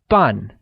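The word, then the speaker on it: 半: etc half is translated as fun in Mandarin which is pronounced using the falling tone great now let's see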